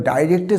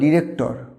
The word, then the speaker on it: director: ডাইরেক্টর বা ডিরেক্টর না, এটা কিন্তু চলবে না। এখানে শেষের রটাকে সাইলেন্ট করতে হবে। ডাইরেক্টর বা ডিরেক্টর। কীভাবে বলতে পারি?